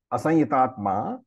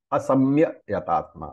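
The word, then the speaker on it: asaṃyatātmā: And therefore, Krishna says, asanyatatma, the one, asanyatatma. Some people pronounce it asamya yatatma. That's also okay.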